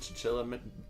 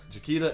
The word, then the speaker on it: Chiquita: Whenever I was working in the dietary, whenever they got a fresh batch of Chiquita bananas, is that how you pronounce that brand name? The one with the fucking Chiquita.